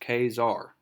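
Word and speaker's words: Ka-Zar: get started today's title is the coming of khazar and it's pronounced kzar so i'm pronouncing it correctly and it says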